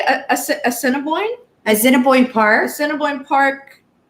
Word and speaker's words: Assiniboine: Assiniboine Park.